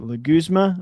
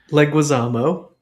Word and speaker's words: Leguizamo: Like, is it Leguzma? I'm so bad with names. Leguizamo. John Leguizamo. Thank you. Leguzma. I'm terrible. Leguizamo.